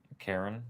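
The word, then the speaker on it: cairn: Is that look like that's how it's pronounced? Karen.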